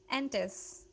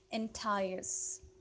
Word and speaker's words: entice: Antis, right? Antis? Antis means to attract someone towards you. Antis का मतलब वो antis जो है ये word इसकी pronunciation है entice. Entice.